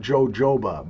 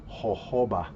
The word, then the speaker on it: jojoba: was pronouncing it wrong it's not jojoba buddy it's jojoba and it grows in